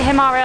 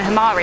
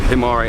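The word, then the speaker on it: Himarë: o'clock it doesn't say himare on the front it says it goes to hamari and borsch i think okay we hope anyway we did say we were saying it wrong we keep saying hamari it's tomorrow five five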